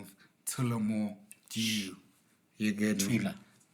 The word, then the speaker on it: Tullamore: African uncle pronounced that? Tullamore Dew. Yeah, it's Tullamore. Tula More. Yeah, it's Tullamore.